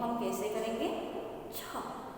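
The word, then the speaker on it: छः: छ. ह जो है वो ह साइलेंट करना है.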